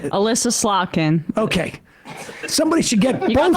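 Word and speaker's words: Elissa Slotkin: Now, someone should get Elise Slotnick on the phone and did I say her name? Alyssa Slotkin.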